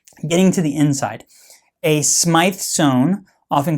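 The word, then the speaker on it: Smyth sewn: my video okay getting to the inside a SMI Zone often called Smith Zone but it's pronounced SMI zone is a basically a way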